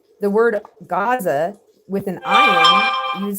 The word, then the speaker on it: Gaza: There's still two distinct letters, but that's why we say Gaza instead of saying Aza, because even though it's spelled with an ayin, we pronounce it with a gayin.